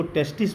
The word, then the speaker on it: testis: उच्चारण करने में जब सिंगुलर होगा तो उसको टेस्टिस बोलेंगे और जब प्लूरल होगा TESTES तो इसको टेस्टीज बोलेंगे।